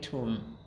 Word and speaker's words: tomb: No, we don't pronounce the last B, but we say tomb.